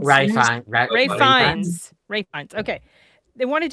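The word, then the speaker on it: Ralph Fiennes: dude from Bone Temple, Ray Fines. Rayines Ray Fines.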